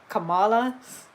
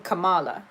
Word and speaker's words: Kamala: was her name again kamala's name or wait that is the that is the thing he was saying kamala but her real pronunciation is kamala and when i first